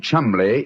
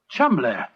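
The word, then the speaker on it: Cholmondeley: And being an American, he had no reason to know that the name Chumley is in no way pronounced the way it is spelt. Oh, Joe, I never thought of that. Chumley.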